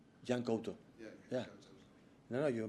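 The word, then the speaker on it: Yan Couto: Yeah, Jan Couto. Jan Couto. Yeah. No, you pronounce really good.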